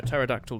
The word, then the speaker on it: pterodactyl: No, in a pterodactyl dish. It's P is silent.